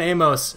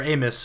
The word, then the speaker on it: Amos: Adrian Amos, or Amos, I think it's actually pronounced, is also a great safety.